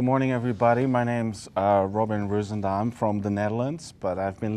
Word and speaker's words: Ruizendaal: I'm going to try to pronounce his last name correctly in the Netherlands way. That is Ruizendaal? Okay, so then now I'm resorting to the American pronunciation. Ruizendaal.